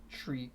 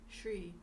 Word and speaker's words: Sri: Some people pronounce it with a H. Sri Lankan. Oh, no, Shri. Shri. Not Sri. Shri. Shri. Yeah. So where's the H? It's in someone else's language, so you don't say it.